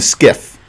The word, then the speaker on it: SCIF: But he talked about they could meet in a skiff.